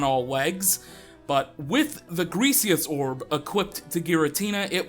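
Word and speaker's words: Griseous: Greasius, Gressorus, whatever. No, it's G-R-I, not G-R-E, so Greasius.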